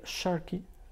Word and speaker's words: sharki: Alors, cet instrument s'appelle sharki, je prononce à l'albanaise, qui veut dire oriental en arabe.